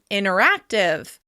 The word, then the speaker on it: interactive: "Interactive" may become "inneractive, inneractive."